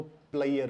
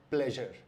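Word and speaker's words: pleasure: पाकिस्तानी पंजाब में, इसको प्लेयर बोलते हैं। अगर आपने किसी को ये कहते हुए सुना है या आप भी इसको प्लेयर बोलते हैं तो इसका सही उच्चारण है प्लेजर।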